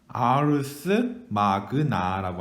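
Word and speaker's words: Ars Magna: 라고 하는 거 문제인데 이 책의 이름이 바로 뭐냐면 위대한 술법 이란 책이고 영문명으로는 뭐라고 하냐면 아르스 마그나라고 합니다. 아르스 마그나라고 읽습니다.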